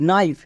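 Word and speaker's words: knife: এন আই এফ ই নাইফ এখানে কিন্তু এর উচ্চারণ হচ্ছে এখানে কে এর উচ্চারণ হচ্ছে না কে এখানে সাইলেন্ট কেন সাইলেন্ট এক্ষুনি বলে আসলাম কে এর পরে যদি এন থাকে তখন কে সাইলেন্ট এখানে যেহেতু কে এর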